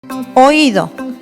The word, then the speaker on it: Oído: Oído. Tiene la sílaba tónica en OI y la vocal tónica es la débil. La I entonces lleva acento gráfico.